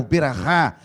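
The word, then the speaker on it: בְּרָכָה: terra prometida, ou seja, tem toda aquela beracá, ou berahá, a pronúncia do hebraico aí, berahá, em que eles começam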